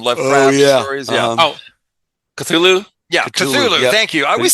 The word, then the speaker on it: Cthulhu: That's Chulu spelled backwards. Chulu from Lovecraft stories. Yeah. Cthulhu? Yeah, Cthulhu.